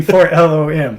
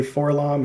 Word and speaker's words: 4-LOM: number 8 for no this is the way I pronounce this 4-lom you mean for long no I mean 4-lom oh there's kind of a rift in the divide of fandom where half the people say for long and the people that